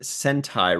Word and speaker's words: Sentai: work together okays so Sentai says it's pronounced centi Ryan meaning Squadron in Japanese you can call me